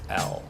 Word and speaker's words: L: letter l yeah uh what we often hear is what ella hello right is actually the way the proper way to say it is l l yeah yeah and then